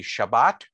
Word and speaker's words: Shabbat: So just some examples of that, and then I'll call on you, Larry, is the word for the Sabbath in Ashkenazi pronunciation would be Shabbos, and in Sephardic pronunciation would be Shabbat.